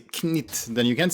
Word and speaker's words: Knytt: Well, I've been educated a bit, so it would be Knytt and Uni. Knytt, Uni, and Niflas. Okay. I mean, if you're gonna, if you want to be like all official about it, say Knytt, then you can't say uni because that's not right.